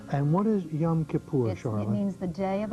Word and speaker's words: Yom Kippur: Year and that was last week today is Yom Kippur right is that the way pronunciation yes right and what is Yom Kippur it means the Day of Atonement when we